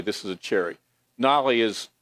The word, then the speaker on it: nolle: Nolly is like dismissal. We misspelled it on purpose because it's Nolle, but everybody'd say Knoll. So, so that's like so we put Nolly so people say it correctly.